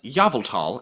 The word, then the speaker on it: Yveltal: For the uninitiated, we pronounce Yveltal as Yveltal and Arceus as Arceus here on this channel.